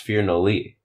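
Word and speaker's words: Firnadli: that one last weekend that one was at fear no Lee in Peoria Illinois uh that gym is ran by Phil or if you're not D no that's that's how it's spelled oh it's pronounced fear no Lee okay you remember me having this discussion yeah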